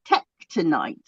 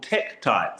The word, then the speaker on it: tektites: Tektonite. Oh, they're a family of crystals, or they're not really crystals, called tektites.